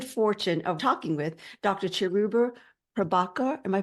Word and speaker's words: Cheruba Prabakar: Cheruba Prabakar. Am I pronouncing that correctly?